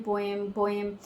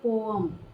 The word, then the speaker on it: poem: लोगों को आदत है, हैबिट पड़ी हुई पोएम पोएम. सो इसकी एक्चुअल में प्रोनाउंसिएशन होती है पोम, ठीक है. स्लाइटली आता है बीच में, तो जब हम जल्दी में बोलते हैं तो इट कई बार ऐसे भी आता है पोम, बट पोम, ठीक है.